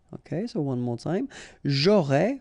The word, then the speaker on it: aurais: J'aurais, final S not pronounced, tu aurais, same thing here.